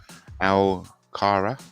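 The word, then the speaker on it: Alcaraz: Loyalty wimon Spygate R Carlos Al Cara you don't pronounce a zed at the end amit's father filmed Novak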